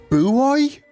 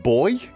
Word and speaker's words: buoy: Americans say buoy buoy instead of boy. They actually say buoy, I believe. And that's not to annoy the wife. It's actually how they say it.